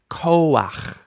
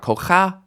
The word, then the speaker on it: koach: Koach, not koach, not kocha, but koach.